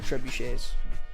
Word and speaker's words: trebuchet: 3 syllables. 3 syllables. Treb you Shay. That's what I'm excited for. I love trebuchets.